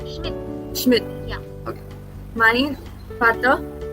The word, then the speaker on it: Schmidt: Because D is pronounced as T and we already have extra T. So Schmidt.